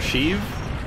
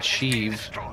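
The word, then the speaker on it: Sheev: named shriv before or shiv wait oh oh right it's shiv not cheese i don't even know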